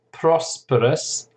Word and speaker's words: prosperous: And then prosperous, the noun is prosperity. Prosperity. Notice there's a shift in the pronunciation of the syllable. It's prosperous. The stress is on the first syllable, and prosperity, the stress is on the second syllable.